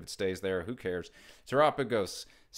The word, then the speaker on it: Terapagos: Terapagos, pronounced like Terapagos EX Double Rare from Stellar Crown, is down to $13.42.